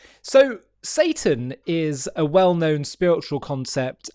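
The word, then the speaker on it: שטן: It's pronounced Satan in Hebrew. It's a Hebrew word. And I wanted to talk to you about who Satan is from a Jewish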